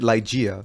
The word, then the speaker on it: Ligeia: Ligea, talking about the I think she pronounces it Ligeia. So you can use whatever pronunciation you want. It's from an Edward Allan Poe poem. So you can pronounce it however you feel comfortable.